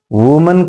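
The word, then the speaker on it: women: option यह typical है वुमन का वमन होता है यहां पर चेंज कर दो तो इसे वुमन पढ़ा जाता है वुमन and this is pronounced S वमन और यह मैन दि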